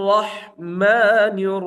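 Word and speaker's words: الرحمن: রাহিম হির রাহিম নির রাহিম নির রাহিম বিসমিল্লাহ রাহমানির রাহিম বিসমিল্লাহির রাহমানির রাহিম এরপর হচ্ছে আর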